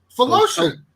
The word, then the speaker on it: Philatosian: It rhymes with lotion. You say it like that. Oh, Phil. Try it. Phil Lotion? Phil Lotion. O toe and a shin. O toe shin.